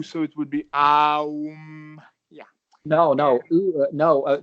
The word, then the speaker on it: aum: basically, the way the word is said is aum, but No, no, there's a I'm syllable saying you're saying if you're saying if